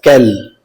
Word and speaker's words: quel: In French language there are a total of 4 interrogative adjectives और इन चारों ही interrogative adjectives का pronunciation same होता है in French language as कैल।